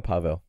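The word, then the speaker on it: Paweł: You just call him Pavl. Powell. Okay, that's the easiest way. People realize I can't pronounce anyone's name now, but yeah, against Powell,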